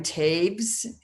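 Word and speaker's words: Toews: um or she grew up near there miriam tabes is the pronunciation it's of t o e w e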